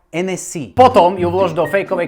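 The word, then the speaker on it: Hennessy: Francúzi totiž nevyslovujú H. Takže nabudúce si v obchode intelektuálne vypýtaj NS.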